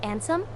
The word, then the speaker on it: Ansem: said am sam know he wants to pronounce it with the sem but it's like s-a-m it's like and sam uh let's see no